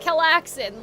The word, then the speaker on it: Calxiyn: How I just said it. Kellaxin, like Chillaxin.